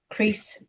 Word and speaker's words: Croes: Is it Croes? Is that how you say it? Crease.